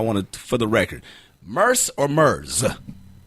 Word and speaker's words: Murs: I know we say this like every single time, but I want to, for the record, Murs or Murs? Like a purse, but with an M.